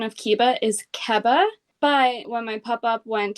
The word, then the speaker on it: Keba: So I don't know what the full length was, but the proper pronunciation of Keba is Keba.